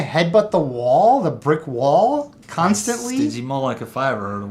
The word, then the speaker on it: Stygimoloch: look it up to see how it was pronounced. It's called a Stygimoloch, and that's how it's pronounced. It's the headbutting dinosaur. So Chris Pratt, he and I don't know about that. It's a Stygimoloch.